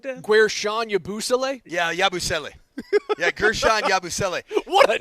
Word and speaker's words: Yabusele: I don't know how to pronounce his name, like Yabusele or something like that? Guerschon Yabusele? Yeah, Yabusele.